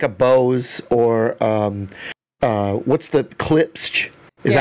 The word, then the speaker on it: Klipsch: Well, I can understand, like, when it comes to something like a Bose or what's the Klipsch? Is that how you say it? Klipsch.